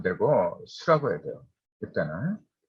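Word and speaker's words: 宿: 이건 잘못된 표현이고 수라고 해야 돼요.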